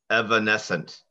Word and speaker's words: evanescent: Evanescent.